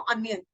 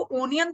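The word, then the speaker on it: onion: ही शुरू होता है बट उसको प्रोनाउंस करते हुए आप क्या बोलते हो अनियन राइट उसको ओनियन तो नहीं बोलोगे दैट इज रंग उसको उसको आउल आउल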